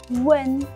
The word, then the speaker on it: one: Kemudian bacanya itu bukan one ya, tapi one.